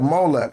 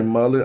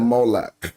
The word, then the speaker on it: Molech: Molech. All right, so let him go back. Hold on. I didn't say Mullet. I said Molech.